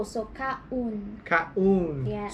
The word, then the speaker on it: kaon: You said kaan. It's O, so kaun. Kaun. Yes. So O is always u.